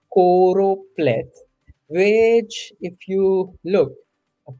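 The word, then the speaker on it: choropleth: corop okay I kept pronouncing it as chlorop but it's corop which if you look a corop map is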